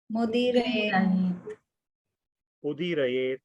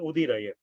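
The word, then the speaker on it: उदीरयेत्: Saraswati Vyasam Vyasam Tato Tato Jayam Jayam Udirayet Mudirayet No, it is Jayam and Udirayet.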